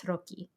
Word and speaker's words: tarocchi: I don't want to pronounce this incorrectly, but I think it's tarocchi. I think double C's, HI in Italian is. It's a hard C.